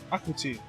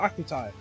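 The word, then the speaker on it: Gachiakuta: Akuti, not Akutai.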